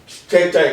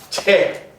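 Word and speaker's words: 諦: 그러니까 이건 한자식으로 발음하면은 채. 여러분 뭐 생각하다가 아이고 모르겠다, 될 때는 되라, 그러면 뭐라고 그래요? 체념. 그렇죠? 체념. 이거 원래 체념할 때 채자인데, 그리고 불교에서는 이것을 제 그렇게 합니다.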